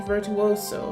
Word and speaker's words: virtuoso: A person highly skilled in music or other artistic another artistic pursuit celebrated Clarion's virtuoso. How do you pronounce this word?